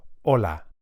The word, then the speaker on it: hola: A good place to start is the word hello, which in Spanish is hola. Hola. You can hear that the initial H is silent.